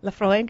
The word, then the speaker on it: Laphroaig: those flavor qualities exactly now what about the pronunciation mackel and i can do oh yes yeah yeah laphroaig laphroaig yes very good doing well there's a nice